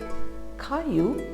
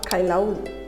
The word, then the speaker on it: Caillou: Yes, so the story is Caillou borrows a book. So even though there are two L's here, the pronunciation of this word or this name is Caillou, and it's not Kailau, it's Caillou.